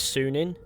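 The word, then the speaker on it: Sýnin: to Odyssey furthermore evils Ravens name is soon in which is also spelt incredibly awkwardly when compared to how it's pronounced and apparently in Old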